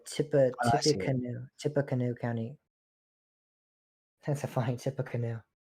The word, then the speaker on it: Tippecanoe: That's a funny Tippecanoe. It's spelled Tippy, like Tippy Canoe, but I believe you pronounce it Tippecanoe. It's a Native American word.